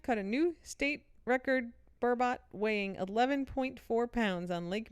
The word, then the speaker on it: burbot: Department of Natural Resources said the fish is called burnbot it's b-u-r-b-o-t burbot I well I looked it up like turbot so I looked up literally before we started recording Vermont pronunciation here's what it says b-u-r b-a-a-t is how it's written out phonetically burbot well okay robot but burbot it's a fish it's